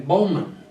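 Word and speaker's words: Baughman: in the Navy it was they called him Bowman it's spelled b-a-u-g-h-m-a-n the man that always called grandpa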